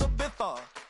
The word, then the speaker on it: Ibiza: Ibiza. Yeah, it's pronounced Ibiza, actually.